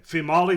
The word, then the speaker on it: Female: It's It's female in the spelling, but it's actually pronounced female. Okay. Fimali deduces he went to the mission and urges Ina to enjoy New Orleans on her own.